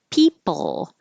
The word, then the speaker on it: people: I need an interpreter people I wrote this two ways because there really isn't a vowel sound I put uh like pull but if you think of it as just an L that's fine because you're really just making the sound of the L people I can put